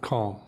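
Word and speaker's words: Caum: And how do you spell calm? C-A-U-M.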